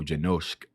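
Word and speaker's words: Janoušek: his last name and not to pronounce like the S as a S, but a sh. So Janosk, which I'm hoping I'm pronouncing that right.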